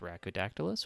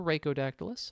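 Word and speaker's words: Rhacodactylus: And for those of you who don't know me, my name is Racodactylus, or Racodactylus. Either pronunciation is fine.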